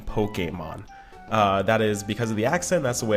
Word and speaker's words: Pokémon: explain that I'm going to be using the pronunciation Pokemon uh that is because of the accent that's